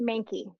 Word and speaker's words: Mahnke: Yeah, it's pronounced Mahnke. So Is that German? it is. Yes, yes. There's a huge rivalry in Boston between the Boston Red Sox and the New York Yankees, but it rhymes with Yankee, unfortunately.